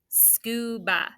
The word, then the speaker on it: scuba: all right let's see did you do sku s-c-u that's an open syllable with a long vowel and what you do with ba right it's b a that a is making the schwa sound that's an open syllable exception so take a second